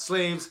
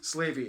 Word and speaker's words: Slavey: great slave lake and named after the slavy people not slaves slavey it's a tribe also